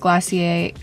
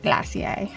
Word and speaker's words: Glossier: I know you guys are always saying that Glossier, why did I say it like that? Glossier.